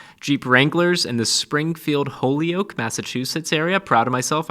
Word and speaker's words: Holyoke: Jeep Wranglers in the Springfield, Holyoke, Massachusetts area. Proud of myself, I pronounced that correctly.